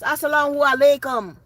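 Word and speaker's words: as-salamu alaykum: Not even saying it right. It's assalamu alaikum.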